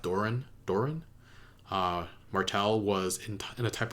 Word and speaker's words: Doran: I think Doran is his name, pronounced Doran.